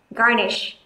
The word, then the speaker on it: garnish: chúng ta có từ garnish garnish trọng âm rơi vào âm Tiết đầu tiên tiếp theo bạn